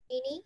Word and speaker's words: Jeannie: Jean, is it Jean or Jean? How do you say your name? Jeannie, like in a bottle.